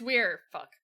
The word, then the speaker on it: Weir: ] Master Forester denounces wear leader High Reach is where Weir Weir it's Weir it's weird I'm I am fighting against years in mispronunciation there they have a